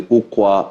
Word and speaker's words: Ukwa: The book we have here is A Tale of Two Neighbours, a socio-political history of the Ukwa and Ngwa nations. Did I pronounce those well?